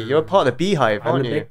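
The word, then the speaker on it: Beyhive: Not the bayhive, but the beehive. And it's spelled B-E-Y as well.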